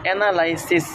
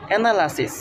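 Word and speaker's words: analysis: আমরা অনেক সময় অ্যানালাইসিস উচ্চারণ করি, এটা হচ্ছে ভুল প্রনাউন্সিয়েশন। কারেক্ট প্রনাউন্সিয়েশন হচ্ছে অ্যানালাসিস, অ্যানালাসিস।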